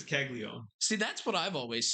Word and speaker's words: Caglianone: Well, it's pronounced different than it's spelled, and then other people say different stuff, and it's super confusing. I believe it's Caglione.